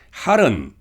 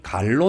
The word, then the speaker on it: 할: 할은 자전 옥편에는 갈로 나옵니다. 선어록에서는 크게 외치는 소리를 할이라고 발음합니다.